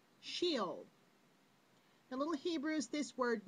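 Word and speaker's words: Sheol: as hell was a Hebrew word pronounced shield the little Hebrews this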